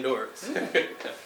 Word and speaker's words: Doris: But Doris. Kind of rhymes with Chuck Norris.